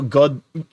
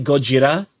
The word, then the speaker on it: Gojira: It's kind of like how Godzilla is actually Gojira. It's just we added Americanizations to it.